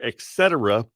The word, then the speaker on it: etc.: I offered that earlier on the air, etc. Not with a K, with a tet, etc.